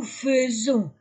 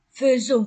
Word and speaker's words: faisons: 21 décembre prononciation nous faisons ai mais on le la prononce e faisons comme fenêtre bon et le contraire